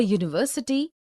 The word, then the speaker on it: university: a whole also a university a union a European a EU a unicorn a useful article because these words University Union European EU unicorn useful begin with a consonant sound similarly we see a